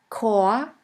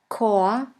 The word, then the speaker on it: Chor: In the German language, the words which normally start with the letter C is pronounced like the letter K. Here we have the word Chor, Chor, which means choir.